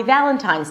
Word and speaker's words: Valentine's: actually saying it correctly, hold out the V sound. If you can't hold it out, then it means that you're making a B sound. All right, so let's get started with happy Valentine's Day.